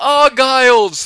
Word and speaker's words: Ailes: yell it at you please tell nineball that it's pronounced Ailes there's no se yes this this one